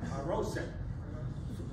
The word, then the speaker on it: Haroset: Haroset. Comes from the Hebrew word microphone. Sure. Microphone. Oh, you can't hear me. Okay. Haroset, pronounced Har-Oset, comes from the Hebrew word sheres, that means clay.